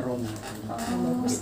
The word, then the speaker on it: Rama: Aslinya Rama, dibacanya Romo.